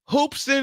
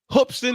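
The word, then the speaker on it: Hoopeston: that beats my South Carolina Gamecocks what folks hoopson Illinois hoopson Illinois I gotta say it right hopston Illinois well basketball town what do you know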